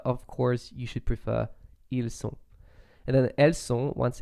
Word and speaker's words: sont: But of course, you should prefer ils sont. And then elles sont, once again, you don't pronounce the T, the final T of sont.